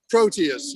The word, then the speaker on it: Proteus: play is that how i say my name proteus yes proteus yes it's my first reading of